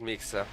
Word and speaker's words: Mixa: ups coach Btop that the correct pronunciation for Mixa's name is with an S, not with a SH. So, it is in fact Mixa.